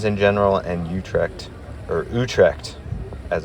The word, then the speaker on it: Utrecht: I highly recommend visiting the Netherlands in general and Utrect or Utrect as it's properly pronounced.